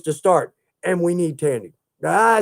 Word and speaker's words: Tandy: And we need Tandy. I said it, didn't I? It rhymes with candy.